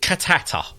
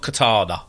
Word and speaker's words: Cantata: It's called Cantata. Not Katana, as I keep saying.